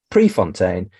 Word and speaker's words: Prefontaine: I am going to say it properly Chris Prefontaine thank you very much indeed for being a